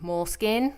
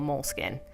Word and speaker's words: Moleskine: Moleskine? I'm going to call it Moleskine, because I'm Canadian and that's how I pronounce things.